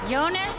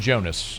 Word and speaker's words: Yonas: With the 93rd pick in the 2025 NFL draft, the New Orleans Saints select Yonas Sanker, defensive back, Virginia. Thank you very much for the pronunciation. I would have been saying Jonas uh for as long